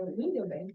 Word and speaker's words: Windelband: Professor, a pronúncia é Windelband? Windelband. Windelband. Que são de Baden, né, da escola.